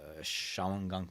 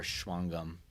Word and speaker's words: Shawangunk: It's a mountain range called the Shawangunk Mountains, or Shwangum, I think is how it's pronounced in the native tongue.